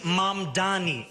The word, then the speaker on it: Mamdani: telling me that you don't know how to pronounce a basic sequence of English consonants? The name is Mom Dani.